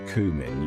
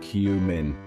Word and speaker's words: cumin: Now, this isn't cumin, you hear me? It's a common mistake, but let's get it right. It's cumin, clear as day. Pronouncing it correctly can make you sound like a true culinary expert. Imagine you're saying Q for the loo, but add min at the end.